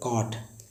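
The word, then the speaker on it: caught: जैसे लिखा होता है कॉट, CAUGST, देखिए इसमें काट है, GST जो साइलेंट है, BOUGST, पार्ट, पार्ट मीन्स खरीदना।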